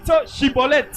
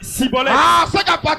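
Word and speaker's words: schibboleth: Chibolette chibolette comme ils étaient desbol il n'arrive pas à prononcer chibolette il a dit cibolette prononciation par la prononciation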